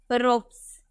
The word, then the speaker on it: ropes: उसी तरह से अगर नेक्स्ट हम देखें, अगर हमें लिखना हो ROPES, एस से पहले आपको PE नजर आ रहा है, एस से पहले आपको PE नजर आ रहा है, तो इसका उच्चारण सौ में करेंगे, हम बोलेंगे रोप्स।